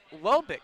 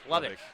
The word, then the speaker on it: Lubbock: Lobik. Lobik. Oh, I've been saying it wrong for the. Lubbock.